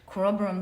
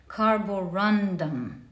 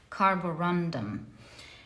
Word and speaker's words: carborundum: make this mistake I always call it the Corum when it's in fact carborundum that's how it's pronounced properly carborundum and for pile number three you have the